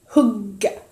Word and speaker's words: hygge: Des fois, entre français, on va pouvoir l'appeler Hyggge. Mais la vraie prononciation, c'est Hugga. Voilà, je pense que c'est pas trop mal.